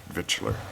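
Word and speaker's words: victualler: as common vix but then it's but it's pronounced V vitler because they're because it's difficult to pronounce yet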